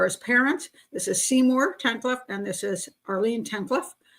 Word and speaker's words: Tankleff: I'm going to pronounce his name correctly. Tankleff.